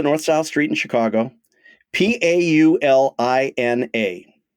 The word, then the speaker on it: Paulina: South Street in Chicago p a u l i n a so my instinct would be to pronounce it Pauline but since you're asking me maybe it's Paulina you are very good Chicago is embracing you